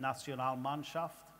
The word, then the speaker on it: Nationalmannschaft: What is it about, what do you call it, Nationalmannschaft? Not bad, not good pronunciation. Yes, that's right. Okay. Nationalmannschaft, yeah.